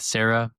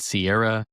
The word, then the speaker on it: Serra: spell it right because a lot of people say sips with Sierra or they they'll spell it sips with s a r a h like Sarah, like the woman's name Sarah, but this is s e r r a huniperosa.